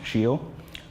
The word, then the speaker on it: Scio: our life easier so the name shield it's pronounced shield that's ecclesiastical our team which is the type of the Pope speaks that's what I I'm told